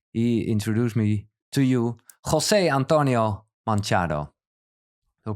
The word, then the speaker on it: José Antonio Manchado: Yeah, because Tijn, your friend, and for me, well, as a light friend as well, he introduced me to you, José Antonio Manchado. Do I pronounce it right?